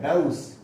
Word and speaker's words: dose: अगर इसका करो डउस, ऐसे बोल सकते हो आप, या फिर डउस है, डउस, डेउस खुराक, जिसको आप डोज बोलते हो, इसका करेक्ट प्रोनाउंसिएशन ये है डउस।